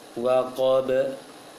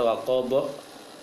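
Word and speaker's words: وَقَبَ: Waqab. Jangan dibaca waqab karena pengaruh qaf yang sebelumnya. Bacanya waqab, waqab, ab, gitu ya.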